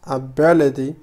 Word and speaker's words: ability: فمعنى كلمة ability هي القدرة أو الاستطاعة. Ability. فنقول ability. فهنا لاحظوا أن تي قمت بنطقها على شكل دي.